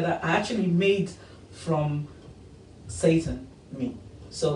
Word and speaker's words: seitan: It's called seitan, not Satan. Yeah, please. Yeah, but No, it's pronounced that way.